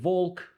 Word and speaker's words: walk: so'zlarni pronounce qilayotganda masalan walk, talk emasda mana bu l harfi pronounce qilmasligi kerak. Ya'ni walk, talk xuddi shunaqa.